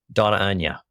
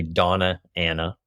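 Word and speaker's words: Doña Ana: never say it correctly what's the airport Donna Ana yeah so that's a or you could just say Donna Anna but it's in the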